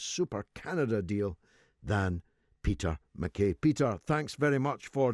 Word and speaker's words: MacKay: you'll always be peter makai yeah the makai is the proper pronunciation in the highlands somehow it got uh